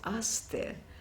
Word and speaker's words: Aster: French name which is asked there that she may be pronounced it after her because I didn't know the pronunciation she said and let nobody pronounce it in the English Way know which is different